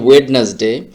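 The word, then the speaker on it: Wednesday: তারপরে শব্দটি হচ্ছে একেবারে একটা কমন শব্দ, বাট আমরা এটাকে উচ্চারণ করি ওয়েডনেসডে, বাট এটার উচ্চারণটা, সঠিক উচ্চারণটা কিন্তু এটা না।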